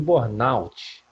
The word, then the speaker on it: burnout: A pronúncia correta é síndrome de burnout, né?